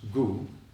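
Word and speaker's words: དགུ: And the term for nine in Tibetan is pronounced uh written dgu but pronounced goo and then with an n on the end it becomes g which means winter.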